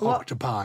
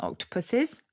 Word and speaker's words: octopuses: the answer is there it's not octopi is it it's it's it's oct it's got it's some father other funny word because it's greek and not latin it's greek exactly so people wrongly assume because it's got the us understandably that it's latin and so they call them octopi but actually the standard plural is now the english version octopuses with only one s